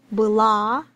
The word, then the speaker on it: была: But in pronunciation the difference is in the stress mark.